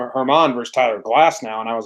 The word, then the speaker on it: Glasnow: The pronunciation on Baseball Reference says Glass-now.